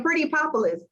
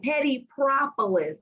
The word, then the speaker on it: Petty Propolis: i didn't get pronounced i kept saying pretty populous and i was like that's not right petty propolis it's like a little bit of a tongue twister um tawanna's so smart